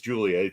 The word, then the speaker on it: Giulia: But it is, it's Giulia. It's spelled that way. That's the way to pronounce that. It's a soft G.